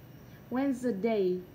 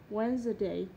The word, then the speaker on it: Wednesday: D không được phát âm trong những từ thông thường sau, như từ handkerchief.